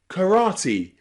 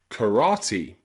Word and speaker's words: karate: Finally, there are some special words in English where E is at the end of the word and it's pronounced E. Usually, they're words that are borrowed from other languages, especially Japanese. So words like karate, karate, or karaoke, karaoke, both of those end in E, but they're borrowed from another language.